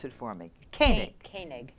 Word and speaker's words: Koenig: Well, my first guest, who's, and you pronounce it for me, Koenig. Koenig. Koenig.